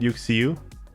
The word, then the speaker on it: UxieU: you see okay but is that how you say it you see you yeah okay you are a